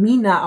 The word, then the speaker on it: Mina: bisschen die Geister, aber laut der Marke selbst spricht man ihn Mina aus, obwohl der eine Buchstabe wie eine 3 ausschaut, geschrieben und auch auf deren Homepage schreiben sie es tatsächlich mit 3 Ina.